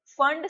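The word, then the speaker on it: Pfund: And fifth is फंड series. P silent है यहाँ पे, इसको बोलते हैं फंड सीरीज।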